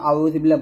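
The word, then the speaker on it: أعوذ بالله: এখানে আইনটা চাপ দিয়ে বলতে হবে এবং এক লিপ টান দিতে হবে এরকম জাল পেশের উচ্চারণটা জিব্বার আগা উপরে দাঁতের আগা লাগাতে হবে নিচে লাগলে ভুল হবে আউজু পাতলা বালামের বিল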